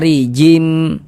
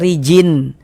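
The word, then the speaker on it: رجيم: Nah, maka cara membacanya bunyi tanwinnya dimasukkan melebur ke huruf mim. Sehingga kita baca rijim. Jangan baca rijin tapi rim.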